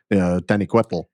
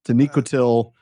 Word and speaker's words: Taniquetil: I mean, first season of the Prancing Pony podcast, I kept going with that Aztec pronunciation, Taniquetl, thanks to Martin Shaw, I think. But no, Taniquetil.